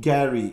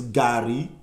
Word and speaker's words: garri: take your gary well it's not gary it's gary even if you are you don't like you at least pronounce it properly gary say god yeah